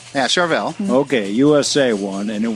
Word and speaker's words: Charvel: Well, in fact, I brought in a Chevel. Uh, did I pronounce that right? Yeah. Charvel.